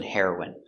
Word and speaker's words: heroine: next we have heroin the pronunciation is the same the drug heroin and the person heroin hero is for a boy and for a girl we say heroin it's a girl hero so Black Widow is the heroine of the Avengers pronunciation heroin air hair hair hair hair w w herrow herrow i hero hero n heroin heroin remember heroin is the pronunciation for the drug and heroin is a female hero pronunciation heroine heroin she's